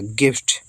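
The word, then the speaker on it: gift: गी एफ से आधा फ टी से टा गिफ्ट गिफ्ट मतलब होता है उपहार देखि जी आई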